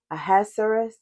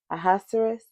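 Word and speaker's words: Ahasuerus: So, but um I think it was a Aaserus. Ahaserus. Yeah, I think that's how you say his name.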